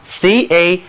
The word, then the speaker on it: canal: 历史的潮流 The stream of history 再学一个由人工建成的非天然的河那当然是运河了就是 canal canal C-A-N-A-L 这里啊两个字母 A 分别读作元音 A 还有梅花音 A而且它的重音在后面一个音节上来请跟我读一下 canal 运河沟渠世界上最让人赞叹的两大工程就是 the Suez